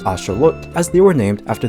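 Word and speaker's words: āxōlōtl: to Mexico and named by the Aztecs who originally pronounced it as Asher looked as they were named after the Mexican god Sholo.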